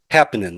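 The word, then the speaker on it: Haapanen: And other people I mentioned, like Larry Hapanen and Happinen, that's how you say it.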